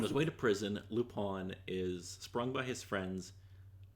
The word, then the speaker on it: Lupin: Okay, so it's spelt Lupin, but they say Lupin, which always throws me off.